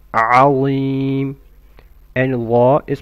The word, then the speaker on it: عظيم: عظيم starts with an عين from the throat. عظيم.